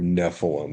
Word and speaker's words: Nephilim: In other, it's actually pronounced from the Hebrew, Nephilim.